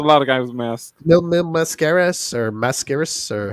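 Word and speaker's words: Mil Máscaras: Mil Mascaras or Mascaras or how do you say Oh, it? The Mil. Mask Man? Mil. Mil máscara.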